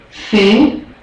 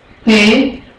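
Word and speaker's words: פ: Fe. Okay, without the begesh, remember this is a begash effect letter, so without the begesh, the sound is softer. Fe. With the begesh, Pe.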